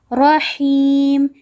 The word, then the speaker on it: رحيم: Here again there is a ra, and on the ra there is fatha, so we are going to read it heavily. Rahim.